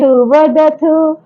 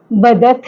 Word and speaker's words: वदथ: देखिए उच्चारण का ध्यान विशेष रखना है। अगर आपने अपना प्रोनाउंसिएशन सही नहीं किया, उच्चारण शुद्ध नहीं किया तो मिस्टेक जरूर होगी। कैसे? अब देखो बदथ और बदथ, बदथः बदथ, इसमें है का साउंड भी आएगा, बदथः बदथ।